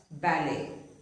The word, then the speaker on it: ballet: Now, words taken from French words which end with et, the T is not pronounced. For example, ballet. It is not ballet, but ballet. Buffet.